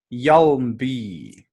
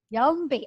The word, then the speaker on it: Hjalmby: Hjalmby. Hjalmby. I said it right. Yeah, you nailed it. Absolutely. It's a silent H.